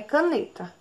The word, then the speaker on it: caneta: Escutem aí, tentem identificar qual é a sílaba mais forte. O ca, o ne ou o ta? É o ne. Então vamos lá. Ta é a última sílaba, o ne é a penúltima.